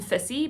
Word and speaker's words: Viz: But our main character is Viz, or I call him Fissy because the way it's spelled is like a fis, so like a fish in Afrikaans.